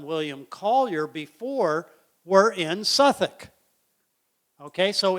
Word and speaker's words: Southwark: Well, of course, that's not how the English pronounce it. It's Suffolk.